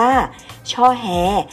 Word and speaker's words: ช่อแฮ: ธาตุ ช่อแฮ ผม ว่า เขียน เป็น อักษร ธรรม ว่า ช่อ แฮ และ ช่อ แล ซึ่ง